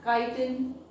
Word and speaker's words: chitin: CHITIN, it can be pronounced as chitin.